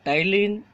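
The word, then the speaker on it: ptyalin: एमिलेज को एमाइलेज भी कई जगह कहा जाता है और टाइलिन, इसमें पी जो है साइलेंट रहेगा और TYLIN इसकी मीनिंग है।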